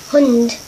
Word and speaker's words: Hund: Hund. Like hood.